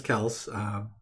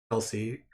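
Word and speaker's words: Kelce: He did come out and say how the proper name to say his name was Kels, Kelsey, from what we always call them.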